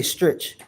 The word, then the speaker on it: Strich: And that is German. Strich. Strich. I think that's how you say it. Strich. For me, being American, I say stretch.